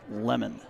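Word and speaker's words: Lemmond: And with that, we'll get kicked off here in the top of the first with Thomas Lemon, L-E-M-M-O-N-D, but we're told it's pronounced Lemon.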